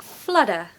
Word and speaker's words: flutter: English word pronunciation tip make sure you pronounce your te's if you want a British accent in the American accent they say more like flutter flutter which sounds so cool